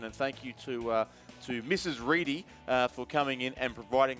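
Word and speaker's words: Ready: Reedy for coming in and providing this to us. But the correct spelling of Alice, R-E-A-D-Y's last name, with the correct pronunciation at least, is definitely Reedy, not Reddy.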